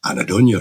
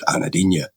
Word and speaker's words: anhedonia: While reviewing the podcasts today, I realised I've been saying anhedonia wrong for 7 weeks. Despite seeing it written down, I've consistently pronounced it anhedonia. Anhedonia. Let's call the whole thing off. It was only through the wordplay in yesterday's dispatch, matching it to Caledonia, that my brain finally snapped it into place.